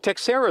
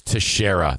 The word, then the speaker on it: Teixeira: Texera is a member of the... It's Teixeira. It looks like Texiera. I believe that's pronounced Teixeira just because there was a baseball player named Teixeira.